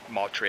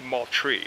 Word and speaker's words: Moultrie: ways of saying that I've heard multi a I've heard ma try but the locals say Moultrie so that's what I'm